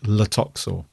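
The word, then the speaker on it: Tlotoxl: he's called Latoxor, and I'm pretty sure it's a silent T at the beginning. Yeah, because it's got a T, but then it's L, and they never pronounce the T from what I've and is he the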